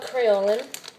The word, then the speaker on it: Kryolan: The store is called Kryolan. Even though it's like all weird and non-backwards, but it's spelled K-R-Y-O-L-A-N.